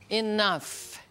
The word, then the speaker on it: enough: Olha a pronúncia de enough. A pronúncia termina em F, F de faca.